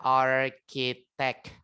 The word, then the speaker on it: architect: Ada architect. Nah, bacanya bukan arsitek ya, tapi pakai K, pakai K. Arki gitu ya.